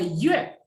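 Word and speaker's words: 月: Nah, yue itu artinya bulan, ada U sama E. Nah, nadanya diletakkan di E. Kenapa diletakkan di E? Karena antara U dan E itu E yang pertama. Jadi bacanya yue.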